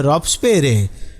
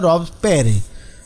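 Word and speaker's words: Robespierre: वैसे एस भी कई बार साइलेंट हो जाता है, रॉब्सपेरे।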